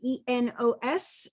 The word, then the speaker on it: Enos: It's Enos. And if you want to pronounce it, it's Dukes of Hazzard. If you're a Dukes of Hazzard fan, Enos from Dukes of Hazzard.